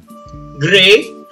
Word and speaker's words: gray: It's divided into two different sounds. The first one comes from these two letters, G and R. It sounded like this. Gr. Gr. And these two letters, E and Y, although it's spelled E-Y, it sounds like the spelling is E-I. A. A. So you combine these two sounds together, it becomes the color gray.